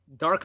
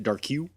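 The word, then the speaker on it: Darque: I mean, it took me a few times in my head to say, no, dark makes a lot more sense than Darke. When I was a kid, I pronounced it Darku.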